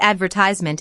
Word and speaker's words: advertisement: The word advertisement in American English stresses the second syllable, but in British English, it's often the third.